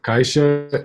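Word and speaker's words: caixa: the okay yes yes it's either a ship or a X or a z sure like like Max and this is actually fairies yeah because this is the air complex fairies yes so Keisha is box but you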